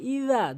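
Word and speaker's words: إذا: উচ্চারণ আমাদের বলতে হবে ইজা জিহ্বার আগা দাঁতের আগা নরমালি হালকা করে ইজা বলতে হবে ইজা বলা যাবে না এই জিম এই জালের জায়গায় এই জিম আনা যাবে না জালের জায়গায় জালি উচ্চারণ করতে হবে ইরা জিম আলিফ জবর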